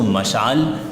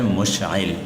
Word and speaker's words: مشعل: العوام کہا جاتا ہے۔ تو اس کو مشعل پڑھنا یہ دراصل غلط ہے، اس کا اصل تلفظ ہے مشعل، ٹھیک ہے، یاد رہے